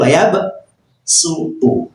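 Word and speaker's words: وَيَبْسُطُ: Lafaz wayab su pakai shad tulisannya tetapi bacanya dibaca sin bukan wayab suu tetapi wayab su u. Nah. Nah ini kalau tidak dipelajari tajwid bab garib ini enggak tahu karena tulisannya lafaznya shod. Orang baca mesti wabsu.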